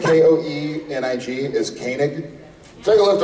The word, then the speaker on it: Koenig: K-O-E-N-I-G is Koenig.